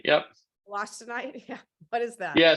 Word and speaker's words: wollastonite: And then let's see, we have a question around, how do you pronounce that? Wollastonite? Peter, can you Wollastonite, yep. Wollastonite, yeah.